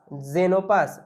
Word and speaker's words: Xenopus: একই রকম ভাবে XENOPUS, জেনোপাস, জেনোপাস, জেনোপাস না কিন্তু জেনোপাস, মানে এরকম একটা সাউন্ড হবে।